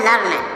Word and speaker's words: learn: यल ई ए आर एन, इसको पढ़ा जाता है लर्न। यल ई ए से पढ़ा जाएगा ल, आर से हो जाएगा र, और एन से हो जाएगा न, तो हो जाएगा लर्न। लर्न मीन्स क्या होता है, सीखना।